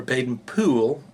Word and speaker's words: Baden-Powell: environment baden-powell uh or baden poole as i've been told it's spoken and that's how it's said and by the way